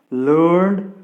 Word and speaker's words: learned: But when these words are used as adjectives, these should be pronounced as id, my dear friends.